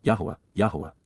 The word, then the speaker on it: Yahowah: and having compassion, peel infinitive, for children, al-benim, Yahowah, the proper pronunciation of the name of Eloah, God as